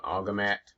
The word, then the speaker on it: Agimat: testing that particular system I think it's um agamat I think that's the way you pronounce it so today was a